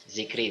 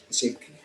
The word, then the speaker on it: Zikri: Ini bacanya Sikri atau Sikri? Zikri, Pak. Zikri.